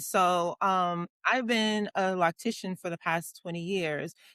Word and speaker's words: loctician: So, I have been So, you said it right, lactician.